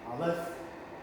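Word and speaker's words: Aleph: I left. That's how you pronounce it.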